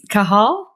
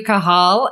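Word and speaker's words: Cathal: She told me last week how to say her name, and she's like, the T is silent. So I'm like, how do you make a silent T? Cahal?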